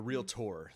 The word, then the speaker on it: realtor: I'm a realtor. Yes, that's the proper pronunciation.